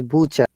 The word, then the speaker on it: butcher: yes vegetable vegetable and this is not bata this is butcher you know buchan what